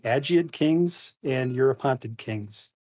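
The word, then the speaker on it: Agiad: Sparta we have the I think it's a soft G agid Kings and Europe haunted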